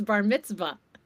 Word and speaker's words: bar mitzvah: You didn't say it right. It's bar mitzvah. Bar mitzvah. Baritzv. Do you know it's a V?